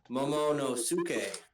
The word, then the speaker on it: Momonosuke: Momonosuke.